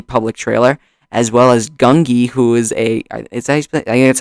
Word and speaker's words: Gungi: As well as Gungi, who is I think that's how you say his name. Gungi, who is a Jedi Padawan, or youngling rather, from Clone Wars.